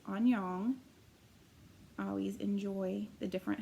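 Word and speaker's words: 안녕: and this language is Korean and his pram pronounced Anyang I always enjoy the different hellos that you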